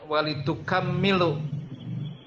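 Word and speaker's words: وَلِتُكَمِّلُوا: ini Imam ilmu qiroah beliau membacanya walitukmilul ya kapnya dipatahkan minimnya ditasydidkan ya walitukmilul edit data ya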